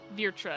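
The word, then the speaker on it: Vrtra: times in the cutscene i keep saying vitra but there's an r so it's very uh virtua virtra that's how you say it virtua so what were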